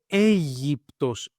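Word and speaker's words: Αίγυπτος: Et Égyptos, c'est l'Égypte. OK? Égyptos, mais vous voyez ici, excusez-moi, que la première deux lettres sont en diphtongue qu'il prononce comme E.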